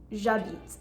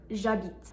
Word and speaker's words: j'habite: front of it, but the H is muet, it's mute. This means that if you were to say I live or I'm living, j'habite, you have J apostrophe habite, j'habite. And you can hear it sounds like one word, j'habite.